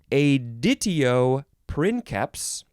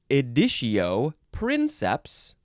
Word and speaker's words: editio princeps: You can pronounce it either editio princeps or editio princeps.